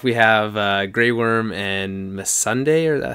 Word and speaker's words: Missandei: We have Grey Worm and Missandei, or how do you pronounce her name? Yeah, that was pretty good. Missandei.